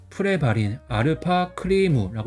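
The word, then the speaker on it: プレバリンα クリーム: 그래서 일본 발음은 프레바린 알파 크리무라고 이렇게 읽을 수 있어요.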